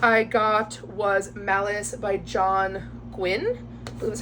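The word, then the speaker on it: John Gwynne: the last book I got was malice by John Gwyn that's how you pronounce his name I have where is it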